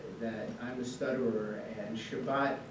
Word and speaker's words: Shabbat: Shabbat, and I have to say that I'm a stutterer, and Shabbat is very hard for me to say because it begins and it ends with accented syllables.